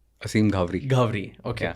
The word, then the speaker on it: Aseem Ghavri: Aseem Ghavri. Ghavri. Okay. Yeah. Aseem Ghavri.